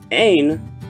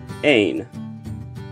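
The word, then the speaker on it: אין: And the word Ein means there is not or there are not. Ein.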